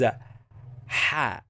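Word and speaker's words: ح: Its sound is ha, ha, ha. Do you know when you clear your throat, ha, ha, ha, ha, or when you try to clean the glass, you make a sound like this.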